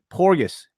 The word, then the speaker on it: Porgus: Can you Porgus? Is that the right pronunciation? Yeah, it's Porgus.